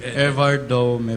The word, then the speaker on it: Evardome: How do you pronounce it? Evardome po.